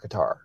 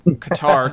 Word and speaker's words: Qatar: Well, the other thing is like I didn't know much about Qatar, so when I watched this clip before we got the show started, this was very informative to me.